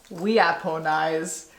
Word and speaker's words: weaponize: Weaponize. That's how that word is pronounced, apparently.